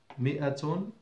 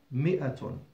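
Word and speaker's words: مائة: مئة. Hundred. الطريقة الثانية you might be amazed and that's this way. مئة. Wait a minute. Is this not an alif? Yes, this is an alif. Written, not pronounced. مئةٌ.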